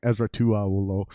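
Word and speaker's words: Esera Tuaolo: I keep saying his name wrong. Ezra Tuaolo.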